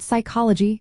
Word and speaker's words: psychology: The word psychology comes from Greek and starts with a silent P.